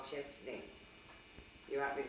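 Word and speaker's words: Chesaning: In a small town in Michigan, it's called Chesney. You want me to spell it for you?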